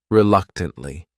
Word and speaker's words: reluctantly: the next word is reluctantly this word has four syllables and the stress is on that second syllable that third syllable also has that schah reuk tly reluctantly what it means is